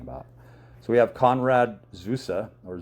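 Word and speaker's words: Zuse: So, we have Conrad Zusa or Zeus if you want to pronounce it that way, but it's pronounced Zusa.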